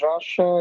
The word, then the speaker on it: Rasa: me my name is Raja it's pronounced like the country I'm not from Russia